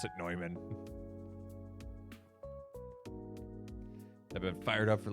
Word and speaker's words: Neumann: and everyone pronounced it Newman, and it's like, that's not how you say that. It's a German name. You pronounce it Neumann.